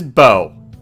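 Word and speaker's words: Beau: I almost mispronounced his name, but his name is Bo.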